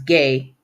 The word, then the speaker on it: Gueye: Sheikh Mustafa gay now I guess his last name is pronounced as gay like g-a-y gay okay so he's Senegalese